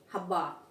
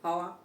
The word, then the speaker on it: हवा: जैसे हवा, हब्बा, हब्बा बोलेंगे तो गलत हो जाएगा, क्या होगा, पेट नहीं चिरेगा, गलत है, हवा, ठीक है, होठ हमारे टच नहीं हुए आपस में, ठीक है।